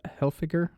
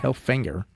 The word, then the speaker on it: Hilfiger: hinger Tommy hinger yeah Hilfiger H I don't know how you say it but I think it's Hilfiger yeah it's not hell finger yeah it's h i